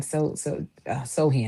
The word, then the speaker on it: Sochan: And not because I don't like Sochan.